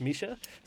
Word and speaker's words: Mika: yeah yeah actually pronounced spelled Mika but pronounced Misha I'll give you that